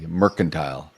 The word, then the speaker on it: mercantile: I have a hard C, not a soft C. Merkantile.